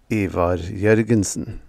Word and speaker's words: Ivar Jorgensen: Or to pronounce it properly, Ivar Jorgensen.